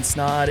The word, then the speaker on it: Snod: My name is Snod. It rhymes with Odd.